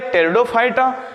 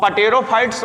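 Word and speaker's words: Pteridophyta: next पर आ जाइए टेरिडोफाइटा अब देखिए डाटा इंग्लिश में देखेंगे तो थोड़ा सा साइलेंट पी वर्ड है अब पटेरो फाइट्स मत कहिएगा ध्यान से देखिए तो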